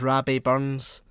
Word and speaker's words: Robbie Burns: you're just a shy robbie burns scottish people pronounce it is rabbi burns um okay and i'm